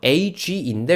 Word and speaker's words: age: 단어가 무지무지하게 많다는 거죠 a기 dad라고 안 읽어요 age인데 우리가 알고 있는 원래 g 발음이 몇 그러니까 a가 a가라고 읽어야 되는데 그렇지